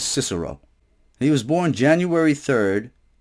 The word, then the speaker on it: Cicero: Cicero some people cannot some people pronounce it kick a row but it's pronounced usually as Cicero he was born January